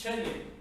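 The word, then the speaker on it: 차렷: Pronunciation is Chariot.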